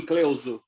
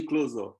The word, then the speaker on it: Cleuzo: it's not bad actually portuguese would be cleosure in portuguese in italian but in english it would be closer let's go so basically